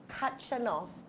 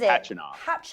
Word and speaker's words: Khachanov: We have got Thiem versus Khachanov, I think is how you say it. I've always heard the K is silent in his last name, and then it's Khachanov.